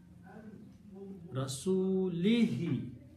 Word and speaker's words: Rasulihi: In the recitation, in the pronunciation, this letter lam is now has a kasra. So this is Rasuli. To make it smooth, we will also pronounce this ha instead of dhamma to a kasra. Only tajweed. No, this is not a grammar. To make easy on the tongue, we pronounce lihi. Rasulihi. That is the final word.